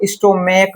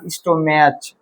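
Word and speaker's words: stomach: तो इ नहीं ले स्टोमेक है सी एच बोल को ई एस लगा नहीं इसको स्टोमेक पढ़ते हैं ना स्टोमेज क्या बात समझ में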